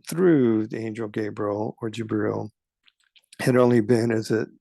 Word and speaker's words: Jibril: Jibril is how it's spelled and pronounced in the Islamic tradition, but it's the same